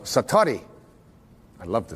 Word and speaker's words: satori: it's called excuse my Japanese but it's called Satori I love to say say that sator s